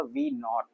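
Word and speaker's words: v₀: यहाँ क्या लिख दिया v0, इसको मैं ऐसे प्रोनाउंस करूंगा v नॉट, नॉट मतलब 0।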